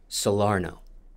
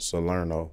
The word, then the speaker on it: Salerno: there for sure but growing up in Port solaro am I pronouncing that right Salerno Salerno sorry how are you able to survive